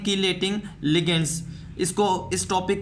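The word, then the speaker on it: chelating: तो यहाँ पर हम लिगेंड्स को 2 टाइप्स में क्लासीफाई करते हैं, कीलेटिंग लिगेंड्स या फिर हम इसको चीलेटिंग लिगेंड्स भी कहते हैं। डिफरेंट प्रोनाउंसिएशंस हैं इसकी।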